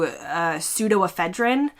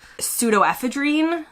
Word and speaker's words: pseudoephedrine: In the US, we tend to say something similar to pseudoephedrine, and in the UK, they say something closer to pseudoephedrine, so there's another pronunciation difference for you.